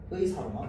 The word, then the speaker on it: 의사: 적혀 있는 것 같은데, 첫 소리 모음인 음절의 의는요, 의로만 발음합니다. 자, 그래서 예시 의사. 의사로만 발음합니다. 다른 건 이사 안 됩니다. 애사 안 됩니다. 의사만 됩니다.